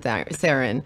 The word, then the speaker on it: Theron: No, he was like, pronounce it Theron. People will understand Theron.